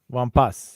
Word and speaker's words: Wampas: connection yeah Lea leas wampas okay yeah you pronounce as at the end this one you do normally we don't but this word yeah we do okay just that word